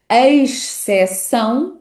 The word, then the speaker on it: exceção: Então, pronunciando sílaba a sílaba esta palavra, podemos dizer algo como e se são. Exceção. Exceção. O sh. Exceção, exceção. Como veem, neste segundo caso, eh, pronunciei a primeira sílaba de forma demasiado enfática. Na verdade, quando se liga à sílaba seguinte, é bastante mais subtil, exceção.